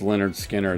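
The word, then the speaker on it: Lynyrd Skynyrd: what you know is their first album is pronounced leonard skinner that that first album it was was it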